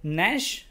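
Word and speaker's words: gnash: तो नैश इसको पढ़ेंगे, है ना, जी यहाँ पे साइलेंट होगा.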